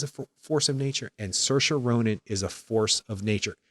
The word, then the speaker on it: Saoirse Ronan: Greta Gerwig is a force of nature and search or onin is a force of nature there's not one